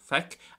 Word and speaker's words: feic: Well, firstly, Feic, for see, is pronounced as so, Feic, and it is an irregular verb, so we can't really base too much off the root.